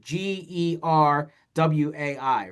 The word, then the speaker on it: Gerwai: this is how you this is how Jerway spells his name, right? Geer wii, right? You probably like, oh, wouldn't have figured that out phonetically."